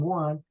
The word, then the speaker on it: و: You don't say کوروش and lots of stuff. Oh, Suzanne. It just really say Kurosho Suzanne. Of course, when I transcribed that, I had to write the letter, right? And that's the V. But in the pronunciation, it has to be Kurosho Suzanne.